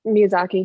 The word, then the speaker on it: Miyazaki: basically um um i'm sorry how do you pronounce his last name miyazaki miyazaki yep is that it meet miyazaki uh he